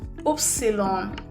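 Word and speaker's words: Ypsilon: Upsilon. Y is pronounced as upsilon.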